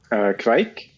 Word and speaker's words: kveik: How do you pronounce the family of yeast? Kveik.